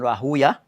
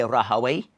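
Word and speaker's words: Rahwayh: ibn Hanbal, Ishaq ibn Rahuya, or some say Rahaway, that's what the ulama of Lugha pronounce it as Rahaway, the ulama of Hadith pronounce it as Rahuya.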